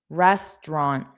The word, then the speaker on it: restaurant: Family family restaurant. So the au is not pronounced restaurant.